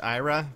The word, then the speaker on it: Ayra: I'm pretty sure her name is meant to be pronounced Ayra, you know, just because, well, that's how it is.